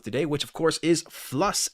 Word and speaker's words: Fluss: which of course is Fluss as Patrick was trying to pronounce it philos by um when they